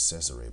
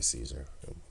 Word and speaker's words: Cesare: role of Caesar Borgia, which is Cesare Borgia, but we say Caesar. It's Cesare, but, well, they pronounce it as Cesare, tomato, tomato, right?